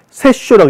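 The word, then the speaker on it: 殺生: 그래서 얘 별명이라면 세쇼 깜빡크, 살생 세쇼라고 읽습니다.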